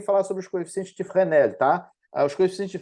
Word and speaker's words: Fresnel: sobre os coeficientes de frenel tá os coeficientes de frenel ou de fresnel como o pessoal costuma falar ah é frenel porque ele era francês né então a pronúncia do nome dele é assim eles são coeficientes que